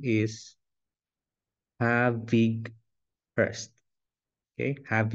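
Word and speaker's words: Havighurst: this is the guide it his name the pronunciation of his name is have big first okay have H so for those who do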